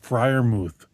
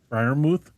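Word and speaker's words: Freiermuth: I I think that guy's name was pronounced Friermouth. Frimouth.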